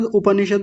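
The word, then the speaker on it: उपनिषद्: ज्यादातर लोग क्या बोलते हैं? उपनिषद। उपनिषद नहीं होता। उपनिषद जो आप बोल रहे हैं उसमें तो प आधा हो जाएगा। उपनिषद। उपनिषद शब्द गलत है। उपनिषद उप प को पूरा रखेंगे। उप निषद देखिए द पर हलंत होता है यहां पे तो उपनिषद ऐसा बोलेंगे।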